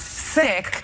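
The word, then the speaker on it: Cikk: the 3rd grade, because my original last name was C-I-K-K, which everyone pronounced sick.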